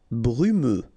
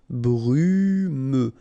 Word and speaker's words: brumeux: Brumeux. Okay, final X not pronounced, so you get this E and then U. Brumeux. Brumeux.